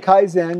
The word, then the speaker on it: Kaizen: What's the right pronunciation? Kaizen.